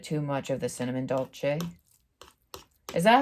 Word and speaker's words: dolce: I was pronouncing it wrong for a very long time because I never heard it spoken aloud. I always read it, and so I thought it was like, I don't know, dulce or dulce or something like that.